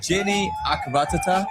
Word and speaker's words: Jinny Akkaratatta: Jenny Akaranatita? Yeah. Is that how you pronounce it?